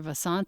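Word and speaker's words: Vasant: want to just say his name is dr vassant v-a-s-a-n-t lawd l-a-d and if you are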